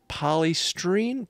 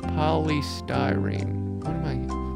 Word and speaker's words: polystyrene: the connections to a box made of expanded polystream poly polystream polystyrene polystyrene polystyrene let's see polystyrene where do you go to hear words uh